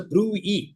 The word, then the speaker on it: bruit: It's a bruit. T is silent.